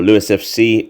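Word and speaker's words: Lewes: fc women 2 or louis fc as it's now pronounced against southampton two teams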